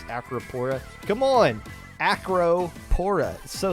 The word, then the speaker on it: Acropora: by yeah and Lantern bracket Was Won by acropora which I know I pronounced correctly because the members of acropora like